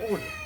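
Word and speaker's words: would: Modal auxiliary verb রয়েছে উড, ডাব্লিউ ও ইউ এ ডি, উড। অনেকে কিন্তু ওল্ড মোল্ড অনেক কিছু বলো, তো আজকে থেকে এটা আর বলবো না। এটার অরিজিনাল উচ্চারণ হলো উড, রস্য ড উড, এবং কখনো কখনো ক্যামব্রিজে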